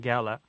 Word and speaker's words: gala: Yeah, you'll find most dictionaries will report that there are two different pronunciations, and you've said both of them, gala and gala.